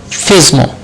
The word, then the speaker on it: FSMO: Next is FSMO rules, flexible single master operations, or we can say FSMO or FISMO. So sometimes pronounced FISMO.